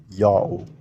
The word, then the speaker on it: Yao: Since this group was placed at the end, it can only be an O vowel. So this whole word read as Yao.